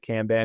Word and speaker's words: Kanban: Like I pronounce it Kanban because I'm from upstate New York and I chew my vowels. Kanban. But Yeah. yeah, but everyone, it's pronounced Kanban, but I say Kanban.